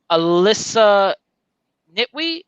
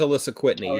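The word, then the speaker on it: Alisa Kwitney: the uh basis for i'm gonna say her name wrong alyssa nitwii who wrote the rogue prose novel okay i know what you're talking about i believe it is alyssa whitney yes there you go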